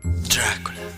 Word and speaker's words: دراكولا: ثانية واحدة، ده مش النطق الصحيح للكلمة. النطق الصحيح هو دراكولا.